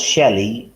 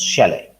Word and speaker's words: Shelley: Some people pronounce Shelley, and some people pronounce Shelley.